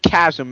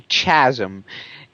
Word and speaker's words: chasm: When you pronounce it chasm, it sounds, mildly epic and shit. When you say chasm, all epicness is lost.